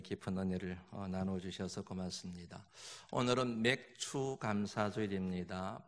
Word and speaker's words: 맥추: 오늘은 맥추 감사주일입니다. 발음을 잘 하셔야 됩니다. 보리맥자 추수할 추자를 써서 맥추 감사주일, 발음을 잘못하면 맥주 감사주일이 되어버립니다.